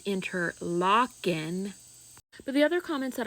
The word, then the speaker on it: Interlochen: Most comments telling me I pronounced it wrong, which I am keenly aware of now and I do know now that it is interlocking.